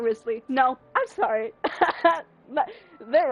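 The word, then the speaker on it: Wriothesley: I honest to God thought his name was pronounced Worthy and I will pronounce it worsely every now and again hate this is pronounced Risley I can't even though I've never heard anyone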